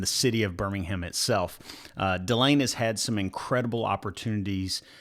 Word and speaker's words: Dylane: A lot of people say Dylan because it's spelled almost the same. So. Right. Yeah, I wasn't sure if the A is a long A or a short A,